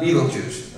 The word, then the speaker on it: Betelgeuse: By the way, it's spelled Beltegeuse, but pronounced Betelgeuse, all right?